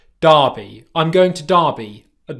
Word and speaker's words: Derby: There's a place in England called Derby. Derby.